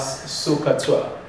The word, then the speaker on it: SOHCAHTOA: But mostly it is pronounced as SOHCAHTOA.